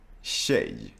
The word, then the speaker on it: tjej: So in Swedish we have the TJ sound, which is very similar to the English SH sound. And for Spanish speakers, it's this sound. Shh. Like you're asking someone to be quiet.